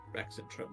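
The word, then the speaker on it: Rexxentrum: making its way to rexentrum or rather leaving from the Asgard Garrison by way of Blade Garden to Rex and Trump that would be the correct way to say that um it um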